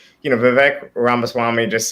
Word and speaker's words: Vivek: but like you know Vivek ramaswami just sounds like okay rhymes with King rhymes with cake rhymes with cake freestyle